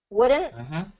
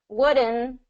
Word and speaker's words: wouldn't: So what's happening here is that T is being kind of reduced, wouldn't, because if you don't have the T at the end, it sounds like wooden, right? Wouldn't, wouldn't, wooden versus wouldn't. There's a little bit of a there that native speakers are kind of gonna pick up on.